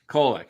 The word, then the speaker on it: Kolek: Kolek, yeah.